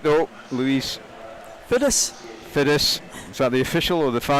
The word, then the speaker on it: Fiddis: I can tell you a story about Louise Fiddis' name, that we were pronouncing it wrong, and a guy came up and approached us saying it's Louise Fiddis, and we said no, British women have told us it's Fids, and he says I'm